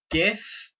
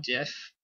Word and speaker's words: GIF: pajamas cart naturally aluminium gif not jeff always gif i don't have a